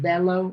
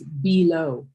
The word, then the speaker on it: below: When you pronounce that word, instead of bellow, it's below. Below.